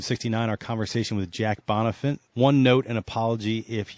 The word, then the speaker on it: Bonifant: All right, we are out here at Argyle Country Club with Jack Bonifant. Did I pronounce that right?